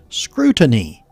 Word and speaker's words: scrutiny: come up here well it is phonetically pronounced this way like screw I have s-k-r-o-o phonetically you could think of it as uh c-r-e-w but screw to knee scrutiny and that simply means